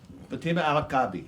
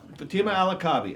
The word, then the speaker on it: Fatima al-Kabi: How do you pronounce her last name, which I could not even do? Fatima Kabi. Fatima al-Kabi, right? Ah, there you go. There we go. Fatima al-Kabi, and she is the subject of Left Behind